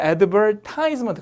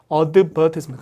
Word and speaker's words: advertisement: 외워두시면 좋은데 이게 이제 미국 사람들은 advertisement 그래서 여기 찍어요. advertisement 그렇게 쓰는데 이제 약간 여기 있죠. advertisement. 근데 이게 영국 사람들은 약간 advertisement 항상 여기 있습니다.